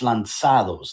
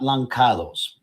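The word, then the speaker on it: lançados: note you know that this word is spelled with a sidija right it's like the sea and facade right so it's lanzados not lankados right but whatever the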